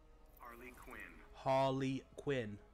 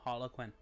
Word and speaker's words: Harley Quinn: say her name again Harley Quinn not Harlequin you stick a guy's